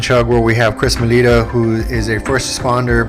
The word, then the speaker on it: Maleta: How do you like to pronounce Uh, it? Chris Maleta. Melita, there you go.